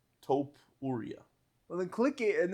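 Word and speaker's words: Topuria: Taupe Ura.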